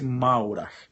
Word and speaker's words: Maurach: Se escreve Maurach, com CH no final. Maurach. M-A-U-R-A-C-H. Maurach, com CH no final. Mas fala-se Maurer.